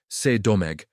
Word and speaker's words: Saint-Domingue: Saint-Domingue, French pronunciation C'est-Domingue, was a French colony